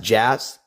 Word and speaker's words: Jass: last name spelled J SS, pronounced Jass. J is not silent.